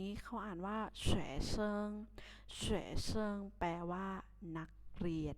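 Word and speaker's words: 学生: ศัพท์ ที่ ศาล ตรง นี้ เขา อ่าน ว่า แชร์ เซิง shezhen แปล ว่า นัก เรียน นั่น เอง ที่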